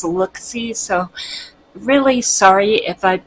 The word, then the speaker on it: Looxi: products L XI and I've been saying Loxy and I think it's lookie so really sorry if